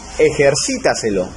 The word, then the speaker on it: ejercítaselo: Y por último tenemos ejercítaselo, que es una palabra sobre esdrújula, porque su sílaba tónica está en la antepenúltima sílaba, ¿verdad?